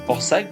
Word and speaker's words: Porsac'h: Donc on arrive sur Port-Sac. Donc Port-Sac je vous l'ai écrit hein, parce que ça s'écrit pas comme ça se prononce.